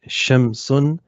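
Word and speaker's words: الشمس: we say uh that we do not pronounce the lamb we read straight through it to the first letter of the noun and it also has a shutdown so we say shemson okay so we come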